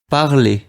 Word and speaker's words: parler: And the infinitive we're learning here in this lesson is parler, that's the verb for speaking. Keep in mind that we will not pronounce the R at the end.